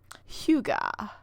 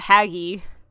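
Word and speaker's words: hygge: you've gotten for this Huga I think it's yeah Huga or something like that you know it's the Danish word for like cozy yes we all know what it is we just don't know how to say uh a cozy outfit for winter Huga I know it's not haggy so you're welcome um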